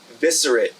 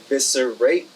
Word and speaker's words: Viscerate: so the pronunciation so I hear a lot of people say viscerate and it's viscerate viscerate yeah you smoke a cigarette